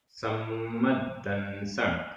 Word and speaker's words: सम्मद्दंसण: सम्मद्दंसण, यहाँ 2 द है। सम्मद्दंसण ऐसा बोलते हैं तो 2 द का उच्चारण आ जाता है।